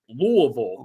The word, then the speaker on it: Louisville: Like literally John Gruden got a box of Louisville gear and he was pronouncing Louisville the whole time and the first comment was, "It's pronounced Louisville."